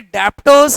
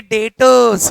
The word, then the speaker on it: debtors: ये जो डेटर में बी है ना बेटा, ये साइलेंट होता है, ये डेप्टर्स नहीं है, ये डेटर्स है।